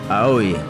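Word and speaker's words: 青い: Blue is pronounced as AO or AOE. Ao. Ao? Ao. Aoi.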